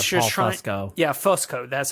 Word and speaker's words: Fusco: Yeah, Fusco. That's how you pronounce it.